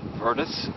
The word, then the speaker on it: Vrtis: your name okay my official title to my name is Curtis and it's spelled V R T is and I am a